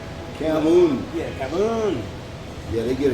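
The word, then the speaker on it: cảm ơn: Yeah, cam, like cam, C-A-M, and then like O-N, but it's Camoon.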